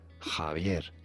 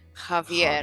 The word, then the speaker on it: Javier: Normally pronounced as Javier. Javier. Javier. Okay. With a B sound. Okay, it's Javier.